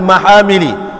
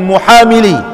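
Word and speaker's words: al-Mahamili: milih Al Imam Al Maha milih bukan muamilin mahal milik begitu cara baca doa al-imamul Maha milih inilah yang telah ditegaskan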